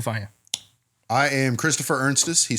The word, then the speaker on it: Ernstes: I've heard Ernestes, I Ernst. thought there was another E in there too. No, it is. Ernstes. Yep, pronounce exactly how it's spelled. Christopher Ernstes.